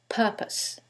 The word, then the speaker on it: purpose: syllable that's stressed, and in the second one, it's the first syllable, and that changes the pronunciation completely. The first word is propose, and the second word is purpose.